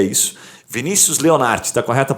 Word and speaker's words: Vinícius: Vinícius Leonardi, está correta a pronúncia, Vinícius?